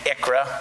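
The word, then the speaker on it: ICHRA: the industry uh nicknames it an IKRA just to um pronounce it that way.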